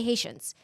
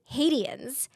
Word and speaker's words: Haitians: She was supposed to say Haitians. She pronounced hadens and the director the director was like that's amazing.